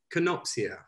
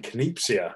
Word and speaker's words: Kenopsia: and the name itself how do you pronounce it again canoxia i was saying kinesia and i was there